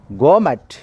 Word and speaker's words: gourmet: And then in this session, second one is the second one word substitute is gourmet. Second one word substitute is gourmet. T silent. We should not pronounce T.